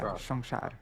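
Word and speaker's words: সংসার: Actually, in Bengali, of course, there are different dialects of Bengali, but most Bengalis they pronounce all s's. They pronounce like this. It doesn't matter if it's like that or whatever. It's always just pronounced like that. Like samsar. Yeah, samsar. Yeah, shongshar. Yeah.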